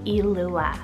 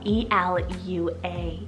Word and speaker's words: Elua: So we are starting on the girls' side of the list and we have the gorgeous name Elua, spelled E-L-U-A, Elua.